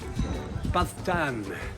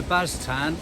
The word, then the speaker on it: Baztan: So the Baztan, or apparently I'm pronouncing that wrong, the Baztan, is an alternative route.